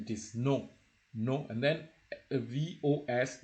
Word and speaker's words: vos: So, and it is no, and then VOS is also possessive. It is vo.